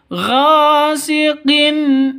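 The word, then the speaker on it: غاسق: idza Hamzah jelas terang tidak boleh dengung tidak boleh panjang Gin salah yang betul gasiqin idza waqab seperti itu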